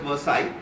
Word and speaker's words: Versailles: It is written as Versailles, but I think it is pronounced as Versailles.